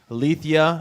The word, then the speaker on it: Alethia: This is the Metal Experience with Alethia. I pronounced that correctly again?